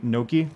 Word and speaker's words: gnocchi: It's pronounced K in Italian. It's actually Gnocchi.